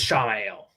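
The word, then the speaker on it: Ishamael: he was sowing dissent within the rebels, like classic Ishmael in the White Tower. Yeah. It's pronounced as Shamael.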